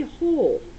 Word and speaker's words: whole: The word whole, because whole starts with a W. And we don't pronounce it whole, right? We just say whole. So it's a silent W.